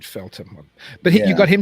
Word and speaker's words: Feltham: as well i think is it feltham or feltham i've always heard it pronounced feltom yeah that's probably right felton but he you got